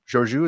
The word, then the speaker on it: Georgiou: So Michael gets to see Philippa Georgiou. Georgiou, is that how you pronounce it? Georgiou.